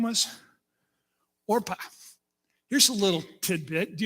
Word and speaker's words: Orpah: Do you know that the reason her name is Oprah is because her family mispronounced the name Orpah?